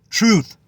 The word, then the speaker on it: truth: It doesn't rhyme with roof, it rhymes with booth, truth, booth, not roof, truth, dumbasses.